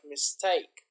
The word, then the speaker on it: mistake: So the intonation is, the stress is on the second syllable, like mistake, democracy, photograph, photography.